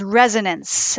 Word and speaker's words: Resonance: do you say it it's resonance as in something that resonates so ah there you